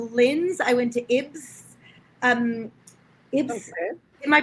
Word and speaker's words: Ybbs: Ibs. Okay. Am I pronouncing that right?